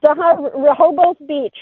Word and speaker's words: Rehoboth Beach: So yeah, so this is in Rehoboth Beach. Am I pronouncing this right? Correct. Rehoboth Beach, Delaware.